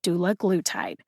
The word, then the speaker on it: dulaglutide: there's not one there so i as an individual interpreted the pronunciation from the usp dictionary online to be doula glue tied if you put in la it sounds like this doula glue tied now if you say it fast enough it ends up sounding like do lagletide but you don't get the syllables chopped up in the right places or the emphasis on